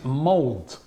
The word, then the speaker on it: Molde: Right, Doc Diablo says the pronunciation is Molde. The E is pronounced... Is that from Norwegian? Doc Diablo doesn't sound like a Norwegian. No. He says the E pronounced in the French way, like the E in Aubameyang. Right, so he says, or the E in Cedric's name.